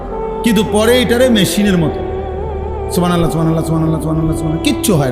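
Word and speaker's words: سبحان الله: সুবহানাল্লাহ। সুবহানাল্লাহ। কিচ্ছু হয় না। হা উচ্চারণ না হলে তো তাসবি হয় নাই। শেষের গোল হাটা সাকিন করতে হবে এবং প্রত্যেকবারই নিঃশ্বাস ফেলতে হবে।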